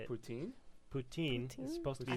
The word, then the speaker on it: poutine: supposed to say it poutin poutin supposed to be I thought it was supposed to be like p no no no cuz the te is the T is like an S for some reason why